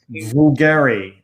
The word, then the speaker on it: Bulgari: that luxury brand b-v-l-g-a-r-i how do you pronounce b-v-l-g-a-r-i bulgari bulgari have you ever pruned